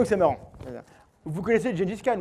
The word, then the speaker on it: Genghis Khan: Vous connaissez Gengis Khan ou Genghis Khan, comment on prononce? Genghis? Genghis Khan, merci monsieur les historiens.